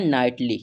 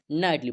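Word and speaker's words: knightly: इसका उच्चारण करते हैं तो इसे हम पढ़ते हैं नाइटली। क्या पढ़ेंगे? नाइटली पढ़ते हैं।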